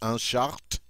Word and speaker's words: short: Because we know in French you don't normally see an SH sound, but it's pronounced un short, and obviously that means shorts.